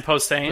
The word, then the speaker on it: Posehn: But he's pretty awesome, so just the fact he's along with this cool Brian Posen, I might have butchered that. Scott Porter. Brian Posehn.